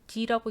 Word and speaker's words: The: 더라고 읽는 거 아니죠? D라고 읽는 거죠.